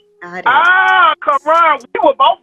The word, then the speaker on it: Karon: It's Karon, like the Muslim Bible. Karon. We were both wrong. We never like to mispronounce names here. We both owe each other a soda. But Mr. It's Karon.